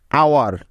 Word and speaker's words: hour: এইচ এর পরে উ থাকলে ওই এইচটা অনুচ্চারিত থাকে, অর্থাৎ উচ্চ থাকে। যেমন আওয়ার, HOUR, আওয়ার।